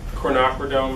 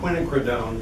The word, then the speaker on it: quinacridone: think I taught them to say quinacridone, but then. Quinacridone. Whatever you call it, does anybody You have it? know what? Kind of I a may be purple. saying it wrong.